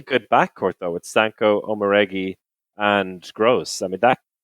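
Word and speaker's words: Omoregie: I've mispronounced that, haven't I? Chris is smiling. Oh yeah, absolutely. I've never actually heard someone say that name out loud. I just love how you kind of ducked out of the end of the pronunciation, like Omoregi. I mean, Elizabeth Omoregi.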